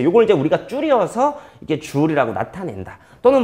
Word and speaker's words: 줄: 이걸 이제 우리가 줄이라고 읽습니다.